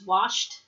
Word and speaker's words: washed: Where can I have my clothes washed? That's a T sound at the end.